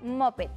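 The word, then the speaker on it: Muppet: cantar se los prometo se pronuncia mopet y es un personaje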